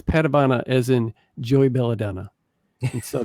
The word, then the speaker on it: Padavona: patavana first of all your last name is pronounced patabana right that's correct that's what i thought